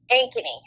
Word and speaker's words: Ankeny: Ankeny. How do you spell that?